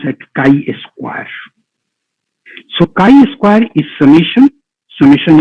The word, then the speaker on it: chi-square: This we call, pronounce as chi-square.